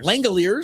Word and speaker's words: Langeliers: Some of the other things that happened today, I'm trying to think Oh, Shay Langeliers? Yep. Langeliers. That's how you pronounce became the first guy with five home runs this year.